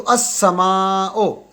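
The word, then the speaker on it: السماء: इसम सेय अस समाओ यह शमसी रूफ से शुरू हो रहा है तो अस समाओ अलिफ सीन के साथ बरा लेकिन जब इसके इससे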